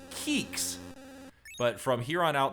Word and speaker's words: Qix: I've always pronounced the name Kicks, but some people do pronounce it Quicks. And I've even heard some people pronounce it Keeks.